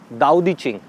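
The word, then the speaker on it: 道德经: Name of this book is दाओ दी चिंग। हम इसको पढ़ते हैं तो इट इज़ ताओ, TAO, बट we pronounce it एज दाओ।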